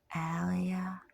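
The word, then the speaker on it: alaya: Al Allah Al Allah a l a y a Alia Alia good a long a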